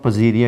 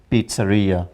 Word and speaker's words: pizzeria: maybe coming from Latin where Z this z sound is changed into pizza so it is pizza and and it is not Pia it is Pizzeria the shop that sells